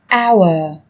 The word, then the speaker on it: hour: Trong tiếng Anh cũng có một số từ mà cách viết chúng ta thấy xuất hiện chữ cái h, nhưng khi phát âm thì chúng ta lại không cần phải phát âm này, người ta còn gọi là âm h câm.